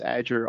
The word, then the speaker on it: Adger: will hello everyone um my name is adger it's pronounced agir almost like the cloud azure which you've heard they've